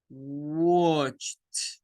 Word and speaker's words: watched: Bueno, la pronunciación no es watched, no, es watched. Watched. Es una T.